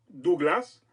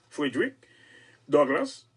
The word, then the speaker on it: Frederick Douglass: Et premièrement, ils ont choisi parce que monsieur le Frédéric Douglass, en anglais, oui, Douglas, ils prononcent comme ça, Frederick Douglass, et ils ont fait